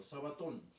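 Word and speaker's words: σαββάτων: Pero qué está escrito en griego sabaton se pronuncia en griego sabaton el primero de los sábados María la Magdalena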